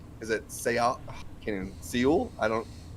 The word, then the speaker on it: Seoul: is it sea kenyan seoul i don't what is it brian soul it's all dead silent e baby at least that's how you pronounce it i knew as soon